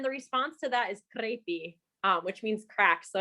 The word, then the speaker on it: crepi: I thought you said crepe. Maybe I'm just hungry, but I thought you said crepe. It does sound like, and that's the word I think is spelled crepi.